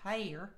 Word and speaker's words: Hellier: Hellier, if you're in Kentucky, it's pronounced Hellier.